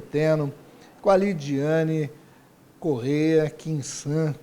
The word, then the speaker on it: Quinsan: com a Lidiane Correia Quinsan, com S. Eu sempre falo, porque eu sempre falo com uma pronúncia de Z. É errado. Professora de português fala é com S, então estou me corrigindo.